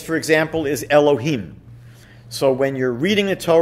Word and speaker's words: Elohim: road when you're praying you would be able to pronounce that name as it is written otherwise what we usually do is alter it slightly and we might say something like ello Keenan one reason that God's